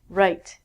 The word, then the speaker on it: write: It has the exact same pronunciation as this, meaning your right hand. Right is what I just did here on the board. Pronunciation is the same as this. Again, we don't say the W.